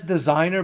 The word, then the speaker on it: DZINZYNR: But it says designer, but it's spelled differently, and there's a reason for it, obviously.